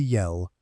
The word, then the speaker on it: Yell: Dorothy Yell, rhymes with tell, not with bell, though it amounts to the same thing in a village.